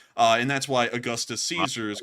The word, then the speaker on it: Caesar: rules to pronounce Latin for the Germans it's actually pronounced Kaiser and that's where they got Kaiser from like Kaiser Wilhelm it means Caesar because Caesar after Caesar